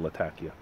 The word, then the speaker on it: Latakia: Probably not, because she said foreigners call it Latakia, but people from where she's from, her city's called Latakia.